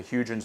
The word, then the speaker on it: Huygens: We actually landed something on the surface of Titan, the Huygens probe, I guess is how you say it.